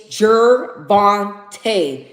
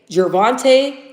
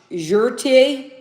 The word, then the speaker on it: Gervonta: Stop saying Tank's name wrong. It's Gerbante. Gervante Tank Davis. Okay. He keeps saying, what does he keep saying? Uh, Jerte. Uh, Ja. What? Jer Gerbante, bro.